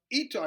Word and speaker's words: Eutaw: The Eutaw, it's spelled E-U-T-A-W massacre.